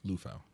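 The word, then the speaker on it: Liufau: they got six right now so how you pronounce his last name luou luou Maris luou yeah so and he's I guess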